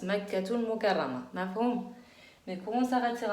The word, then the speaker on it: مكة المكرمة: نعم, en arabe on prononce pas un ta المربوطة quand on s'arrête sur un mot, mais quand elle est attachée on la prononce.